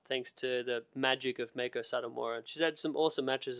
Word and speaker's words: Meiko Satomura: Pronounce her name again. I don't want to brutalize it. Meiko Satomura.